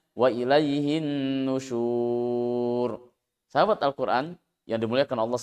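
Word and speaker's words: وَإِلَيْهِ النُّشُورُ: Huruf waw dan ro-nya secara fisik yang terlihat, yang tertulis harokat dhammah karena diwakafkan maka dianggap sukun. Sehingga membacanya wa ilaihin nusyur.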